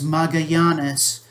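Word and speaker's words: Magallanes: ferdinand magellan a spaniard that is the english pronunciation of his name the the family name is magayanes uh there there is a family here in the rio grande valley named magayanes anyway he said he led an expedition that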